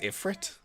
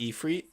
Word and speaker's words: Ifrit: Wait, she says Ifrit, it's not Ephree.